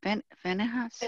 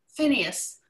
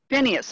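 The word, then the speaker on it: Phinehas: god but venice how do you say that ben finishes yes what barbara how do you say that name phineas phineas okay yeah he went just and remember i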